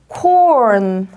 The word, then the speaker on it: corn: corn, corn, corn. 옥수수를 영어로 corn이라고 합니다. 우리 그냥 옥수수 콘이라고 하잖아요. R 발음 까먹으시면 안 돼요.